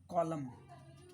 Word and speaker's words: column: हो इसको, क्या हो सकता है बताओ, COLUMN, कॉलम, आप यूज़ करते हो ना, कॉलम, जिसमें कॉलम, इसमें क्या है, एन साइलेंट है।